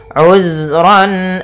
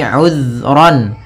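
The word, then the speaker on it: عذرا: Kemudian ayat selanjutnya, uzran aw nuzra. Di sini uzran, hati-hati dalam pelafalan zal, usahakan di sini jangan sampai memantul, jangan uzra gitu ya, tapi uzran.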